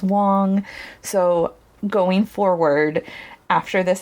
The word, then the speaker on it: Wang: I said Wang several times in this episode. I have since learned the correct pronunciation is Wong.